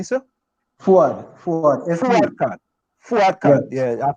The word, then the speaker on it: Fuad: Faud Khan. Did I pronounce that correctly, sir? Fuad Khan.